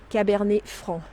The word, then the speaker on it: Cabernet Franc: We don't pronounce the C. Cabernet Franc.